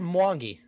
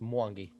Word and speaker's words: Mwangi: And I was like, and she pronounced it, and I was like, well, that's how you pronounce it. Oh, so nice. So it's just Mwangi. That's it. Just Mwangi.